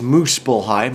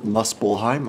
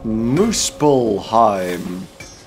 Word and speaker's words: Muspelheim: really dark sometimes and it's moose bull hide not Muspelheim I do apologize for the mispronunciation although that happens constantly